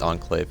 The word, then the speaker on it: Enclave: I feel like it's Enclave because like Encore is pronounced like that. So I'm just gonna say Enclave.